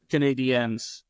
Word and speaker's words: Canadiens: Well, Canadiens, you would have to go with, because that's the French pronunciation.